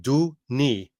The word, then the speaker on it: Denis: It's really do, like do knee, do knee.